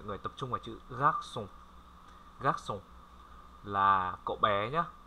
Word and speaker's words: garçon: Ở đây có một chữ C, có một dấu móc một chút, thì mọi người cứ phát âm là như chữ C bình thường.